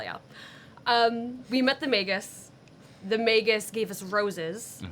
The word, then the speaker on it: magus: We met the magus. Rhymes with Vegas.